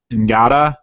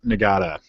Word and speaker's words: Ngata: I don't know how to pronounce names that start with an N, but it's like you only barely pronounce the N. Ngata.